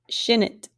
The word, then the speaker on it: shinit: Misahi had a long I, and to be smelly or stinky, it's a short I for shinit.